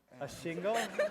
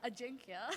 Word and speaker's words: Ajinkya: A shingle? It's Ajinkya. A jinkya? Yeah. I drink ya. A jinkya. As in, like, I drink you under the table, right?